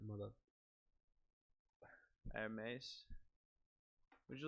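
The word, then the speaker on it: Hermès: The H is silent, mother. Hermes.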